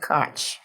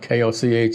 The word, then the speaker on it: Koch: My pastor is Reverend Pastor Kevin Koch. You know, I know it's spelled K-O-C-H, and every time I'm near him, I don't want to call him Reverend Koch. So it's Reverend Koch.